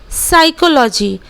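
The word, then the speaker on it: psychology: है की हम लोग पी का उच्चारण नहीं करेंगे जैसे की साइकोलॉजी हम लोग पीस साइकोलॉजी कभी नहीं बोलते हैं साइकोलॉजी बोलते हैं एस से ही शुरू करते हैं बिकॉज़ हेयर पी इस डी साइलेंट लेटर अगर मां लीजिए की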